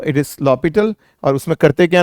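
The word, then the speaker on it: L'Hôpital: काफी लोग इसे एल हॉस्पिटल कहते हैं, बट नो, इट इज not pronounced as एल हॉस्पिटल, इट इज l'Hopital, इट इज a French word.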